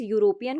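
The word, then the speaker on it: European: जब हम इस यूरोपियन को पढ़ते हैं तो यू यू य में ऊ की मात्रा।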